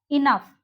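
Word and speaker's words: enough: क्या है देखिए, कुछ वर्ड्स ऐसे भी हैं जिनके लास्ट में आया GH साइलेंट नहीं होता, नहीं होता, इस चीज पे गौर करें, नहीं होता।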